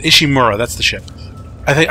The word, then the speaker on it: Ishimura: just managed to escape the ishimaru ishimura that's how you say it ishimura that's the ship I